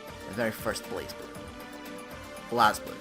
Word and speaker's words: BlazBlue: BlazBlue, it's pronounced as.